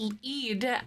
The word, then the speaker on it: Eid: Oh, pronounced Eid, and it marks the end of Ramadan.